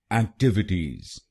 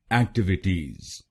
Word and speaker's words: activities: और ये ध्यान रखिए कि हमको दूसरे शब्दांश पर यानी TIV पर जोर डालना है। एक्टिविटीज, एक्टिविटीज। गलत प्रोनाउंसिएशन में हम पहले शब्दांश पर यानी AC पर जोर डालते हैं, एक्टिविटीज।